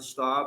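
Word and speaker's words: Staab: is about license plates my name is Stan Staub it's spelled s-t-a-n-s-t-a-a-b I am a steering committee member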